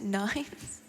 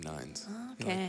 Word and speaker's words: 9S: to mankind oh yeah have I been saying it wrong this entire time is it N9 uh it's 9s but he wants everyone to call him nines tries to make the